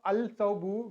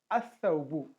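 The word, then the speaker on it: الثوب: For example, al-thawbu, instead of al-thawbu, we used to pronounce as as-thawbu.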